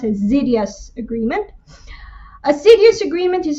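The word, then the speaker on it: Xydhias: y d h i s although it is pronounced as zidious agreement a serious agreement is an agreement reached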